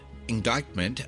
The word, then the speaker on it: indictment: Indictment uh there's actually a C in there that most people don't pronounce. I n d i c t m e n t indictment.